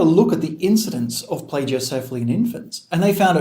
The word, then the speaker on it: plagiocephaly: is blade you cephalic so what is plagiocephaly or pledge oh carefully as some do pronounce it today we're going to